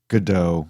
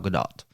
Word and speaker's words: Gadot: a con man and gal gadot good godot no i've heard her i was waiting for you to correct me but that's not how you say it i've i listened to the trailer and that's how she says her name gal gadot as an